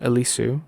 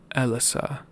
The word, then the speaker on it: Alyssa: next to Fluffy's trainer elissu okay I've been saying it wrong it's uh Alysa Alysa that's what it is that's the trainer that